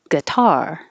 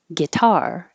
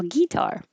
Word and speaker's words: guitar: one is fine guitar it's less common but you might hear it putting stress on the first syllable guitar it could happen completely